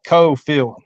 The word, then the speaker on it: Coalfield: Oh, yeah, my girlfriend's town, Coalfield. It's spelled Coalfield, and they call it Cofield.